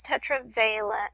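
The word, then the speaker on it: tetravalent: 10 especially in the Tetra veent I'm not sure how you pronounce that word I guess let me see yeah it's Tetra veent I'm sorry I mispronounced that earlier so it has a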